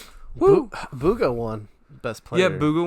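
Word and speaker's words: Bugha: a thing to tell the celebrity like it's pronounced Booga.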